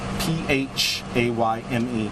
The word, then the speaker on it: Phayme: First name, last name Phayme, P-H-A-Y-M-E, pronounced Phayme.